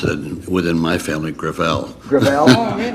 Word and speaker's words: Gravel: it within my family grael gra it's a French name thank you uh I